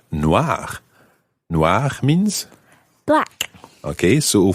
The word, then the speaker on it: noir: for example describing well it sounds the same but it's spelled n-o-i-r-e absolutely and if there were two what would happen to Noir in that situation um Noir would still sound the same but it would be spelled n-o-i-r-e-s because it's feminine and